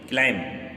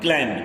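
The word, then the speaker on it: climb: इसको पढ़ेंगे क्लाइम, नॉट क्लाइम, क्लाइम नहीं पढ़ेंगे, क्लाइम गलत हो जाएगा। इसमें बी साइलेंट है, यहाँ पे देखिए लिखा हुआ है बॉम्ब।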